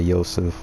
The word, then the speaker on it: Yosef: His name is basically Joseph, but it's like pronounced like the Middle Eastern type of way, Yosef.